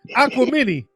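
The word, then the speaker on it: Aquemini: Outcast Acy aqu aqu aquam mini that's what it is aquam mini aquam I pronounce it wrong aquam mini it's actually it's aquam mini Dam uh uh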